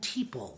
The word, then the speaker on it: Teeple: john teeple correct people john teeple rhymes with people john teeple 51 319